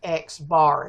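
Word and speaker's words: x̄: sample data values, and it's pronounced X bar. It's an X with a line over it.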